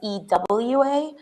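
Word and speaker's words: Ewa: so my name is e wa but the W is pronounced like a V so it's ever see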